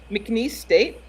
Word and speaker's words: McNeese State: Speaking of which, McNeese State, I'm pretty sure I'm not pronouncing that right. You are. That's right.